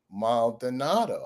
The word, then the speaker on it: Maldonado: I just say, just think Italian. They go, Maldonado.